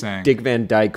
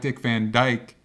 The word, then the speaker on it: Dick Van Dyke: like what he's like Dick Van Dyke rhymes with kite and so you say